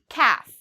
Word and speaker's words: calf: Calf, okay? So a calf is a baby cow. For this word, calf, you do not need to pronounce the L. It is silent.